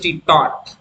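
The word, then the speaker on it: taught: इसकी second form आती है टी ए यू जी एस टी टॉट क्या पढ़ेंगे टॉट इसकी थर्ड फॉर्म भी टी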